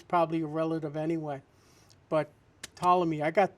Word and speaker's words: Ptolemy: Here's an article I had on Ptolemy. The P is silent.